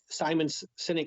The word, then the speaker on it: Sinek: book that's a simon Sinek is one of my favorites by the way his last name is spelled SI n EK not like cynical and he's anything but